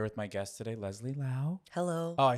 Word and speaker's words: Liao: I'm here with my guest today, Leslie Liao. Hello. Oh, I said it wrong. Me. No, Leslie keep Liao. that in. It's okay. It's Liao like meow. It's Liao like meow.